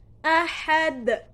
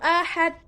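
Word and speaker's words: أحد: Nah, cara membacanya harus dengan pantulan. Pantulan yang berat atau besar. Qul huwallahu ahad. Ahad. Nah, harus jelas pantulannya, harus besar pantulannya. Tidak boleh qul huwallahu ahad.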